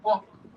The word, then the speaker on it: walk: So the L in this word is silent. It's a walk or half. Or half, not half. Or walk.